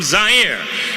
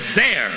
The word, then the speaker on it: Zaire: Hello everyone, Howard Cosell coming to you live from Zaire. Some would pronounce it Zaire. They're wrong.